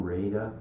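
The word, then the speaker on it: Rada: Bob Raida uh spelled R A D A but he pronounced it Raida.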